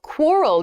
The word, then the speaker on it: quarrel: next word is quarrel quarrel this is a great pronunciation Point quarrel quarrel work on that that quu sound quq quar L quarrel Nice pronunciation Point anyway